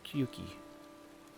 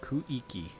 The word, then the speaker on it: Kuiki: I'm Kyuki. Is that how you say it? Kyuki. Yeah. It's Ku-I-Ki. Kiki. Ooh, that's hard to say. It's like Kuiki.